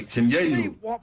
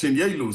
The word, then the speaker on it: Chinyelu: So it's Ruben Chinyelu. It's Chinyelu. So I'm gonna school everybody else around college basketball because they've been saying the same thing.